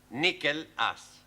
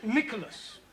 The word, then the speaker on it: Nicholas: was a man called nickel ass it's not quite right no no once upon a time there was a woman called nickel h pronounced Nicholas all right once upon